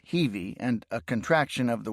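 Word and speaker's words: Hiwi: The Heiwi, pronounced Heivi, and a contraction of the word Hiltz Villiger, meaning someone willing to help the enemy or collaborator.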